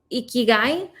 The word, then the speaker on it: ikigai: that so there's on the iki let me pronounce it right ikigai which is a japanese concept meaning of a